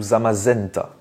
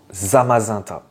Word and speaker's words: Zamazenta: c'est le même principe est-ce qu'on dit zamazanta ou zamazenta et bien on dit on doit le prononcer normalement zamazanta et oui alors pourquoi